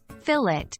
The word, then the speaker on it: filet: than meets the eye a filet pronounced fillet is a piece of